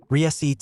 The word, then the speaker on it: receipt: Receipt has a silent p because a scholar wanted to impress someone.